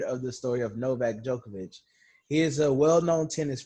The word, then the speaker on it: Djokovic: It's spelled Djokovic. Have you heard of this No, you story? said it wrong. Djokovic.